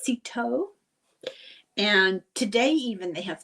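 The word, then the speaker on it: Cîteaux: He was the abbot of the monastery, the abbey, I think it's pronounced Citeaux.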